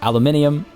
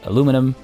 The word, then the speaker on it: aluminium: And again, I specify aluminium. I know many people say aluminum. There are two different spellings. They are the same thing. There are two different pronunciations.